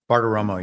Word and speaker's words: Bartiromo: And this is him on, how do you say your last name? Bartiromo? Bartiromo, yeah.